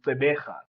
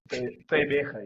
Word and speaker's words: Gqeberha: Well, I'm not South African, but it should be Gqeberha. Yeah. Thank you. Gqeberha, you need that click. Gqeberha.